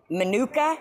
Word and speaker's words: Minooka: Minooka, is that how you say it?